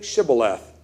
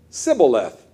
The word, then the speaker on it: Shibboleth: When he said no, they said to him, then say Shibboleth. And he said, Sibboleth, for he could not pronounce it right.